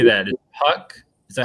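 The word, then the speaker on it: Houck: Twins Tanner how do you say that is Puck is that how you say his last name name Hawk Tanner Hawk Hawk okay Tanner Hawk against Chris Paddock uh in Minnesota then we have 810 pm.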